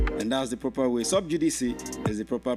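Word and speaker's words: sub judice: are using it as subjudice. It's actually subjudice. That is the proper pronunciation of the word. Subjudice. Subjudice is not subjudice. The CE is pronounced like C, like when you want to see.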